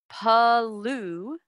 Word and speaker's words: pollution: The like Y-O-U, don't put Y-O-U in it. It's pollution. Pollution. Pollution. I sound very French, don't I? Pollution. Pollution. Perfect. That's it. You dropped the U sound.